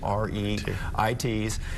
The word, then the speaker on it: REIT: estate investment trusts we're known by their initials re it pronounced Reit and these are very